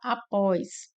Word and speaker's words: após: No item B, nós temos a palavra após, que separa dessa forma, após. Nós temos como a sílaba mais forte o pós, né? Então, aqui já é o nosso gabarito, pois a palavra aqui é uma oxítono, né? Tendo como sílaba mais forte a última.